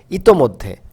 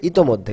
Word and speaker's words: ইতোমধ্যে: যেমন আমরা একটি শব্দ জানি ইতোমধ্যে। সঠিক শব্দটি হচ্ছে ইতোমধ্যে। কিন্তু আমরা প্রায়ই বলি ইতিমধ্যে।